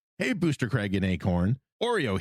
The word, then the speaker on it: Oreo: Oreo here, pronounced like the cookie.